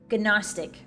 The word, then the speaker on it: gnostic: Gnostic. Gnostic. If it's pronounced Gnostic, why is there a G in front of it?